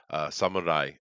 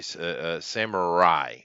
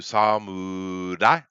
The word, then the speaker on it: samurai: in this particular thing, Americans say samurai, samurai, R-A-I, right? But there is no Yeah, R in the Japanese language. There isn't. that's right. It would be much closer to samurai, with an L.